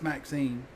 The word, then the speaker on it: Maxine: Maxine rhymes with queen after all the dears.